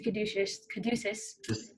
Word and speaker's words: caduceus: But it's a caduceus.